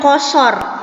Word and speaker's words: qashar: yang berjudul salat qashar ditulisnya kasar tapi kalian membacanya qashar ini tuh bahasa Arab